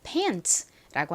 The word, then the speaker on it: pants: 이 T의 T 소리와 S의 S 소리가 연결되면 트스가 아니라 츠 소리가 됩니다. 그래서 이 단어를 pants라고 읽는데요.